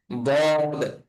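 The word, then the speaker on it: ض: হ্যাঁ, তারপরে হরফের নাম হচ্ছে বদ। বদ। বদ, অর্থাৎ আমাদের জিহ্বার আগার কিনারা এবং উপরের বাম দাঁতের আহ, গোড়ার সঙ্গে লাগাই আমাদের এটাকে উচ্চারণ করতে হবে।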